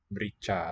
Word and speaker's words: merica: Merica. Looks like America, missing its first letter. Dia, he, she. Suka likes merica. And this is a three-syllable. Merica.